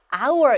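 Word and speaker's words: hour: 소리가 나지 않는 거예요 그래서 이 h 가 소리가 나지 않기 때문에 읽을 때 어떻게 읽어요 하우리 아니라 아우어 이렇게 있죠 그런 소리가 뭐예요 소리가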